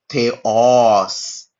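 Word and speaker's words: θεός: कहने का मतलब है इस जगह पे स्ट्रेस पड़ेगा। जैसे कि थेओस थे ओस। ठीक है? तो जहां ओ लिखा है उस जगह पे हम क्या करेंगे? और ज्यादा जोर देके बोलेंगे थे ओस थे ओस तो ओ के ऊपर क्या होगा ज्यादा तवज्जो पड़ेगा ज्यादा जोर पड़ेगा ठीक है थेओस का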